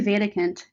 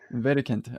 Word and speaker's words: Wedekind: I moved here, but it's actually Wedekind. Wedekind. Okay. Yeah, it's very German. It's I very German. I should have known. I knew that German W's were pronounced like a V, but my Yeah, bad.